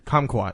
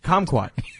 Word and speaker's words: kumquat: you pronounce it again kumquat okay i've usually heard it pronounced uh com quad which is more like yeah that was so different that was so way different do it again calm quad and you say it